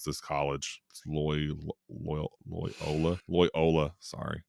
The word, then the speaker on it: Loyola: is on a college campus it's in like loyal I cannot ever pronounce this college loyal Loyola Loyola sorry it's in Louisiana so it's like a